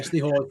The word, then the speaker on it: Ste Hoare: I can never remember how to pronounce this. Yeah, Ste Hoare, fine.